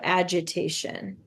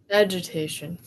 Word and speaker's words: agitation: a agitation agitation a it's actually a g a soft G sound so agitation agitation yeah there was still